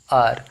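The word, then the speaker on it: hour: आर। अब H silent है और इसका प्रोनाउंसिएशन तो आर हो गया एन आर, इसको क्या पढ़ेंगे? एन आर।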